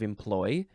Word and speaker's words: employ: The second form of employ is a noun from 1666. You can emphasize the first or the second syllable.